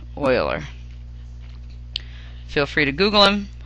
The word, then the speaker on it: Euler: That name is spelled E-U-L-E-R, but it's pronounced Euler.